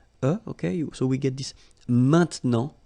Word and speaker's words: maintenant: All right, and then maintenant, okay, normally we tend not to pronounce this okay, so we get this maintenant, maintenant, okay, now.